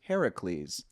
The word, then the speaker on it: Heracles: If you're asking someone who pronounces it in the traditional Greek sense, they would say it was Heracles.